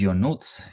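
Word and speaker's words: Ionuț: everybody my name is yonuts yonut um the way you remember my name is thinking about your notes if you say your notes that's exactly how you pronounce my name people in Toast Masters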